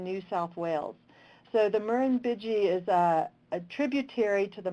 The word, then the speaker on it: Murrumbidgee: Luckily, I'm not sure how many of you guys are Australian, but I think it's pronounced Murrumbidgee River, and it's in Yanga National Park in New South Wales.